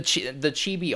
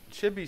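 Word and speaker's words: ちび: Chibi sounds like off. And I'm studying Japanese, so it's pronounced chibi.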